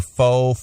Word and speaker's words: faux: woman rocking cornrows or faux froze. Faux froze. Faux froze. F-A-U-X. There's that silent letter, that X.